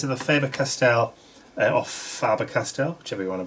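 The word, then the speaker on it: Faber-Castell: color - these are the favored castel of farber Castile whichever you want to pronounce it faber castell Neal colors and I'm going to just throw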